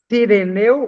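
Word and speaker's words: Cirineu: Seria si com i, não se. Sirineu. Sireneu ou sirineu. Vejam, olha, digamos, a a ela tá falando é da sílaba, da segunda sílaba, não da primeira. É sireneu.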